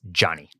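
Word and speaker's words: Ganni: I believe that the right way is Johnny. Johnny. I think this is Johnny. G-A-N-N-I.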